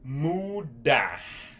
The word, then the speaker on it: mudar: Change in Brazilian Portuguese, mudar.